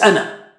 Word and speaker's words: أَنَا: So we say, just stop it, just say ana. Okay, don't stretch it. Ana. Okay, however, if you stop at the word ana, then you say ana. Otherwise, when you are reciting in between, whenever ana comes, قُلْ إِنَّمَا أَنَا بَشَرٌ مِثْلُكُمْ, don't say أَنَا بَشَرٌ مِثْلُكُمْ, and so on. So ana is recited as ana.